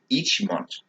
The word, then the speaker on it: ichimonji: So our first posture that we're going to talk about is called ichimonji. In Japan, it's actually ichimonji. That's how they don't pronounce vowels, okay?